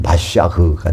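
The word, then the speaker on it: מָשִׁיחַ: 그래서 기름을 부어지는 거 이것이 마시아흐 그니까이 마시아흐를 우리말 성경에서는 메시아라고 겁니다. 메시아 메시아를 히브리어 발음으로 하면 마시아가 됩니다.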